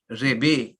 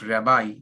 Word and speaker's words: Rebbe: or also they are called Rebe, not Rabbi, Rebe, Rebbe.